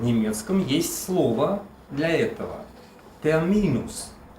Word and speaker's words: Termin: Термин. Ударение только не совпадает. Не термин, а термин.